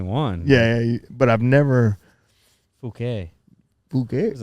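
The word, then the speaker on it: Phuket: pronounced it is it not fuk so it's fuk yeah see I always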